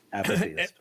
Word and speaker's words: apatheist: I'm apatheist. Is that? Mm-hmm. That's right, apatheist.